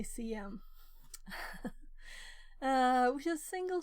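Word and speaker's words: SIEM: a debate yesterday on how to pronounce that right I think I'll say CM uh which is a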